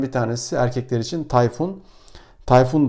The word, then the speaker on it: Tayfun: Tayfun da rahat bir şekilde kullanılabilir. Bazen ikinci hecesini uzatabiliyorlar ama onu bir şekilde idmanla düzelttirebiliriz.